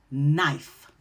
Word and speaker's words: knife: The rule is when you see the K-in together, the K is silent and you're going to say the N. For example, knee, no, knife.